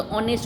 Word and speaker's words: honest: जैसे ऑनेस्ट में HONEST, तो आप लोग क्या बोलते हो? हॉनेस्ट नहीं बोलते, ऑनेस्ट बोलते हो.